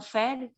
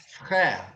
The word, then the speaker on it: frère: Eu confundi com a mesma pronúncia de irmão. Frère. Frère. Frère. Pode falar assim, ó. Frère. Frère. Frère. Isso. É Frère. bem parecido, tá? Nós temos o mesmo sufixo. Frère, mère, père.